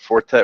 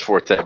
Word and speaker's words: Forte: is in it or Fort the Forte well it's really Fort but Forte and 't more be yeah he says Forte but actually the correct pronunciation is Fort but like know mean